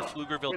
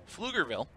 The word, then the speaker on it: Pflugerville: Pflugerville, which is actually spelled with a silent P, is a city in Travis County with a population 61,737.